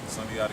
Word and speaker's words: Sundiata: SUNDIATA Gaines. Did I say it right? SUNDIATA Gaines, yeah.